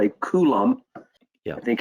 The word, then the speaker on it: coulomb: you clifton because this is actually called a coulomb yeah i think it's the actual pronunciation of that and it's what it's intended